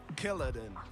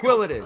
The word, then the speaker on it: Quilladin: Killadin. I'm gonna Quilladin.